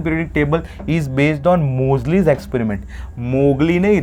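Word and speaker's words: Moseley: मोजली एक्सपेरिमेंट ठीक है मोजली एम ओ एस ई एल ई वाई मोजली एक्सपेरिमेंट ठीक है मोजली मोगली नहीं बोलना रे मोजली एक्सपेरिमेंट अब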